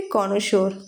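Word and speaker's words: connoisseur: कोनोशोर। कोनोशोर मतलब क्या होता है? विशेषज्ञ। बहुत इंपॉर्टेंट स्पेलिंग है।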